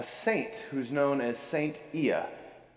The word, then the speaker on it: Ia: who's known as Saint Ia, sometimes pronounced Saint Aya.